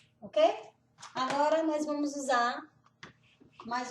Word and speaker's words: og: O a gente não pronuncia o g, fica o. Existem lugares que falam Og, mas não é normal em ózulo, na capital da Noruega, eles falam o meretin tarostin.